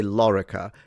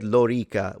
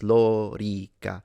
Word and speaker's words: lorica: Lorica, so both O and E are long according to phonemic vowel length, so he did it very well.